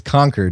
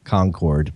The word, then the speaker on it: Concord: It's conquered. It's not Concord, but whatever.